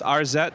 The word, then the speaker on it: Arzette: So, firstly, because I pronounced it several ways, your brand new game, how is it pronounced? It's Arzette, the Jewel of Faramore.